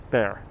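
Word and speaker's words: Béxar: Smith, nicknamed El Colorado for his red hair, arrived in Texas in 1827, settled in San Antonio de Bexar, which is actually pronounced bear.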